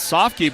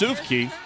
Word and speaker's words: Sufke: I've been referring to Koyan with his last name as Sofke, but it's Sufke.